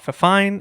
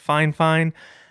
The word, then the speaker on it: Fifine: And yes, before we get going, I confirmed with FineFine that that is how you pronounce the brand name. It is not Fine. It is not Fifine. It is FineFine.